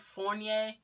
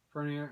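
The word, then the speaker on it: Furnier: His first name is Vincent, and I can never pronounce his last name correctly. It's like Fournier.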